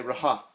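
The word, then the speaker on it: रहा: And then you have this right here is basically an R, and there's an H, and there's an A. So I'm gonna say raha, raha.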